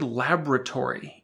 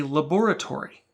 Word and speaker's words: laboratory: happens in most languages when we say the word laboratory in our American accent we are alighting the first Oh in the word a person with a British accent would pronounce all the letters without any elisions and say laboratory alighting is typically done